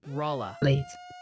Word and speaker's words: Rolla: They're loudly insisting it's pronounced RA. Kind of like Paula.